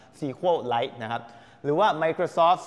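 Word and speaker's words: SQLite: Light นะ ฮ ก็ คือ อ่าน ว่า sequel Light นะ ครับ หรือ ว่า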